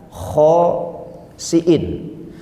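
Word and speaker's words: خاسئين: Ada di dalam ayat lain masih dalam surat Al-Baqarah itu kata-katanya begini, hampir mirip ya, kirodatan khosiin, pakainya sa, pakainya hamzah. Kalau tadi pakainya sya, pakainya ain.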